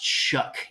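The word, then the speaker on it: Shough: going to be Tyler I'm told it's pronounced Chuck even though I don't know how you get shuck out of how that's spelled Tyler shook of Texas Tech has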